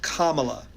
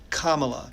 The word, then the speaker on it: Kamala: a house she will protect democracy and it's pronounced Kamala Kamala Cala and if you have any trouble with